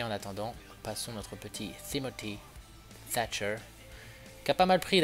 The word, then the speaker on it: Timothy Thatcher: Ou Timothy Thatcher plutôt. Voilà, parce que le premier T on le prononce, le deuxième avec le H, non.